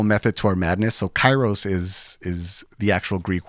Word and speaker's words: kairos: those lines uh so the actual Greek word is chyros and I feel like I have to do that disclaimer because uh I've had people say like that's that's not what the Greek word is you're mispronounce ounc ing it and it's